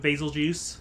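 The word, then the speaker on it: Betelgeuse: like the sound of basil juice. Um, yeah. I say Basil Juice because like for me personally, the reason is because it sounds like Beetlejuice, which is what Basil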